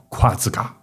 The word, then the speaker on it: Quazgaa: 图，都是这个夸开头的。